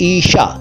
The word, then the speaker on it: ईशा: है और वह है ईशा देखिए इसको हिस्सा मत कहिएगा कि सा तो जिसको कहते हैं इस का सही उच्चारण है ईशा इर्ष्या भी नहीं भाई ईशा ईशा सिंपल ईशा इसका मतलब है पावर